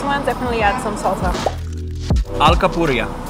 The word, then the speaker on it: alcapurria: Alcapurria. Alcapurria. Alcapurria. Yeah, I got that rolling R thing. Still a struggle for me.